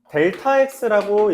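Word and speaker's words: Δx: 증가한 정도라고 표현을 해서 델타 x라고 읽습니다. 델타 x라고 읽고 세모 x라고 표현하면서 b - a를 델타 x 다른 말로 x의 증분이라고 말합니다.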